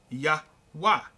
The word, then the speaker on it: Yahweh: But it was Yod-Heh-Vah-Heh, which will be pronounced Yahweh.